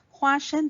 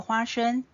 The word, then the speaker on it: 花生: 花生，花生的发音跟发生很像，所以吃了花生就希望好事会发生。